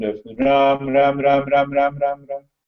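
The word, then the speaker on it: राम: There are two syllables in the Ram, Ra, Ma. So the last syllable of Ma is spoken loudly with the lips together, and the Ra, the tongue remains in between the two, upper and the lower jaws, and the lips gets opened.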